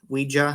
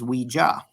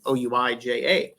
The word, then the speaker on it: Ouija: I will show you here as we get into that from a pronunciation standpoint. Some people say Ouija, some people say Ouija.